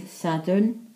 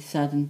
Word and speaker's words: Sadwrn: Saturday is dydd Sadwrn, spelled S-A-D-W-R-N. Sunday is spelled S-U-L, or until this seal, dydd Sul.